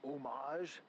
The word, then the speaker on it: homage: Does it hurt you as a French professor to pronounce homage with an H? It does. They don't pronounce H's in French.